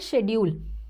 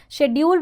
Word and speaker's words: schedule: going to call it schedule okay here at the bottom you can see both the pronunciation we have schedule which is UK we have schedule which is us so you can choose